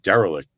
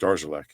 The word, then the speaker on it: Darilek: And we thought it was like derelict. Trey Derelict. There's no J in that. It's pronounced Darzalek. Huh. Andy Reid taught us that, and we were pronouncing it wrong.